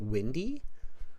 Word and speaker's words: Wendy: pronouncing your name correctly is it windy yeah it's when it's like the weather with a lot of wind yeah just spelled differently right yeah that's what I